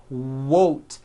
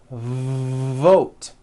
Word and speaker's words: vote: not to do this the word is not won't it's vote every V that you will see in English is made with this lip biting position but when you see a V it's never whoa whoa whoa it's never a W sound it's always mmm vote like that let's practice some words